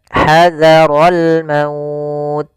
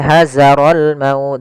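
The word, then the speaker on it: حذر الموت: fathah bertemu Alif kemudian hadarol maut nah hati-hati dalam lafal Za jangan sampai hazarol maut dengan Zai Nah nanti t merubah hurufnya kemudian di sini ada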